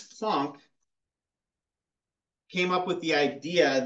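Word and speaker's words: Max Planck: was by Max Funk spelled like plank but I got told by my Eastern European grad school instructor that if you ever pronounce that plank he was just going to straight fail you so it's PL you had to be very careful with the way you pronounce this in front of of ysep mik he's very very picky about his Eastern European names um max plunk came up with the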